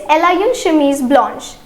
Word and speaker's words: blanche: For feminine it is B-L-A-N-C-H-E. Okay, and the pronunciation will be blanche.